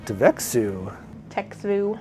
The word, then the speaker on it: Txevu: bring them out ooh devexu I say Tex food as well that's a weird one this is like an eye test txevu oh the tea is silent yeah because I mean